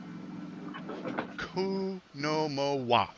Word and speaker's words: Oconomowoc: actually pronounced with a ku on the beginning. Yeah, I've always hate said Oconomowoc.